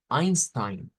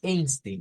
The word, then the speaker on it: Einstein: régimen digamos nazista Pues nosotros le le decimos Einstein ya no es no es Einstein es Einstein pero su nombre se escribe con el diptongo e i de ahí